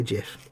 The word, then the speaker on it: GIF: say gif it's stupid i don't care that the guy that invented those claims it should be jif because he's clearly a because it's graphical interchange format how do you say what what letter does graphical start with oh it's a hard g graphical there you go and